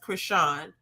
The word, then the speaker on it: Crisean: know obviously I think her name is pronounced Krishan yeah I'm rock this